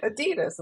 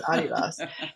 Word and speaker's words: Adidas: was with Adidas because that's the proper pron pronunciation. It's someone's name Adidasler. It's okay because all Americans are like Adidas like really it's Adidas.